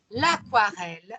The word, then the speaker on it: aquarelle: Vous remarquez qu'ici, je dis l'aquarelle, alors que la règle en français voudrait que je ne prononce pas le U, que je dise l'aquarelle. Maintenant, parce que comme ça dérive, c'est un terme qui dérive directement du latin, les termes qui nous